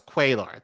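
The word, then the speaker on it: Cuellar: to oppose him on guns uh no it's quailar there we go also proposed and continues to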